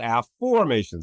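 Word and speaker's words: Afformations: process a method called a formations. This is my book from Hay House. Um so it's spelled A FF O R M A T I O N S. A formations not affirmations.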